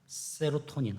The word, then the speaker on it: 세로토닌: 있니다 그리고 또 하나는 세로토닌 혹은 세라토닌이라고 발음해요 도파민은 축구 선서가 꼬를